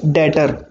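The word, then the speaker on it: debtor: डीबीटी or batter skin बच्चा जो भी होता है ना वह साइलेंट होता है ध्यान रखना इसको आप अपडेटर मत बोलना इसको हम क्या बोलेंगे डेटर ठीक है डॉक्टर को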